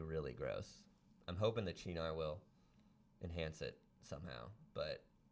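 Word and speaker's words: Cynar: Are you having any CNR? You know you can only have it one night. It's Chinar. I don't know, it's not. Just spell it with a CH.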